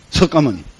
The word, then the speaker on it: 석가모니: 석가모니 맞습니다. 석가모니. 석가모니가 지구에 왔습니다. 서가 모니 그 무니이라고 쓰지만 모니라고 읽습니다.